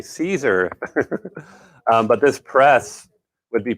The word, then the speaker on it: Siser: vinyl that we have it's that sizer vinyl caesar sorry caesar i said it wrong earlier it's actually caesar but this press would